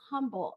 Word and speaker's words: Humble: Oregon um greetings from Humble or it's supposed to be silent h but I don't know how to do silent h so humble District of